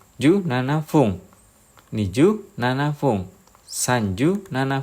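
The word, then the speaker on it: 十七分: 17 ikuti aturan cara baca 7 menit. Bunyinya fung. Jadi ju nana fung.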